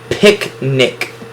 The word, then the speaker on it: picnic: Picnic. Again, 2 consonants in the middle of 2 vowels makes my VCCV division and gives me 2 syllables, both closed syllables with 2 short I sounds.